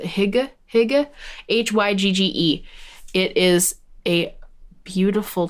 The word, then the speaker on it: Hygge: Sometimes nourishment, or hig, I think that's how you say it. I'm actually, that might not be how you say it. Hygge, Hygge.